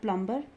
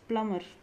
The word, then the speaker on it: plumber: clever crumb plumber not plumber it's plumber tom thumb these are the words where b is silent third is c abscess